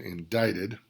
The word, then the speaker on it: indicted: Once again, indicted. Indicted means to be formally charged. C is silent there. Indicted.